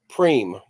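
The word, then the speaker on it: Pream: And it rhymes with exactly what it's supposed to say. T goes. Yeah. This instant goes into coffee. Preem.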